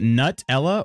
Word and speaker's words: Nutella: I usually say Nutella. So it's kind of a nuh. I don't really put much of an emphasis. I don't know, the T kind of goes in the second syllable for me.